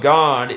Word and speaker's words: God: The 4-letter name of God in Hebrew begins with the 10th letter of the Hebrew alphabet, which is pronounced Yod, Y-O-D, not unlike God. Sounds just like God.